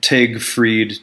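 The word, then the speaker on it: Tage Frid: They told me how to say his name right. It's, you know, I'm talking about Tag Fried, T.A.G.E.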